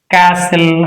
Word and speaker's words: castle: If a word ends with STL, T is not pronounced. In this word, STL is present. STL. Castle.